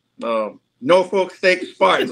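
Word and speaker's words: Norfolk: a great job um I'm gonna be nice North Folk um nor Folk St Spartans G make sure I say it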